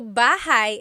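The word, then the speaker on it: bahay: Shir said, I always make a mistake with bah and so bahigh is house. Buhai is your life.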